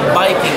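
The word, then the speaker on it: バイキング: to eat a lot but they pronounce it biking with a B that's the word of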